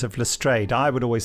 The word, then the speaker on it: Lestrade: Benji will fill out the ancillary roles of Lestrade, Mrs.